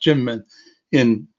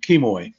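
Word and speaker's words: Kinmen: is on the list is kim kim men pronounced jim in the chinese pronunciation um and it's what the americans called in the past kimoy which was the portuguese name of the ireland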